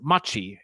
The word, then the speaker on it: Machi: My name is Machi. In Japanese, it's pronounced much, like in thank you very muchi.